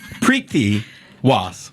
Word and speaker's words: Preeti Waas: You said a hard T. You did. I did, right? You did. No, you said it wrong, she's saying. That's okay. Okay. Mrs. Preeti Waas. You roll the R. You didn't really have to, but that's okay.